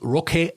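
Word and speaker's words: Roque: Bayern in the early 2000s whose name was rock Santa Cruz rock is spelled r o q e and that also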